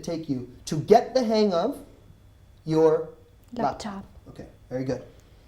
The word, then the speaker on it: hang of: I don't really pronounce hang of. I say hang of. Hang of. Okay, so I combine the two together.